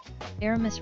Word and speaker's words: Aramis: Well, Dirk says, remember, Aramis rhymes with piss.